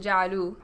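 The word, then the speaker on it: جعلوا: We pronounced it ja'alu, right? There's no... the alif is not pronounced, right?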